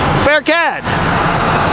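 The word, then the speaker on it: Pherkad: So the associated star with M.I.M.A.L is what I just said, Faircad.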